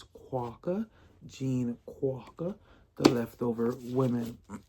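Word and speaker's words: Kwok: I have figured out how to say her last name. It is Quaca.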